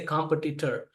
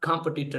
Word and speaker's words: competitor: For example, they say competitor. It's not competitor, it's competitor, it's competitive.